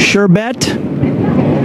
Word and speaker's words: sherbet: was with this one it's sherbet sherbet it's sherbet I bet you didn't know that I didn't know that either but all of America pronouncing it improperly all right sir what's